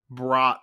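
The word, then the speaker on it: Bratt: to jesper brat like how do you take b-r-a-t-t and get brought out of that i just i that doesn't make sense so at least they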